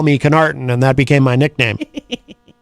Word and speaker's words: Connarton: I put the emphasis on the ends when I shouldn't have. There we go with those words again. You put the emphasis on the wrong syllable.